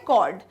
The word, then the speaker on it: chord: कॉर्ड क्या है, CHORD, ये है इसकी स्पेलिंग, जिसको हम प्रोनाउंस क्या करते हैं, कॉर्ड।